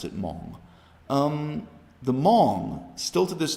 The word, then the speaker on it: Hmong: Hmong is spelled with an H, so some people pronounce it Hmong, but they just pronounce it Hmong.